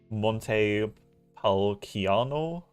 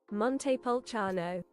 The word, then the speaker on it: Montepulciano: Monte Palciano. Probably butcher that. It's not a hard C, is it? Montepulciano.